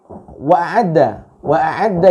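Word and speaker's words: وَأَعَدَّ: Ketika membaca wa'adda ini kurang jelas. Ya, IMB Channel membacanya dengan kurang jelas. Wa'adda, hamzah ain dal.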